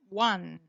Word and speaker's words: one: You see, on is O, top is O, stop is O, gone is O, but one, here it is pronounced like an A, one.